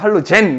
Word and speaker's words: 할로젠: 옛날 발음으로 이제 할로겐이라고 표현하기로 했어. 독일식 발음으로는 할로겐. 영어식 발음으로는 할로젠.